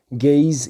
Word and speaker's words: Gaze: C'est vrai que si on voit comme ça en anglais, on a tendance à dire Gees, mais c'est bien écrit. Ça fait partie du titre, hein, Pronounced Gaze, Gaze.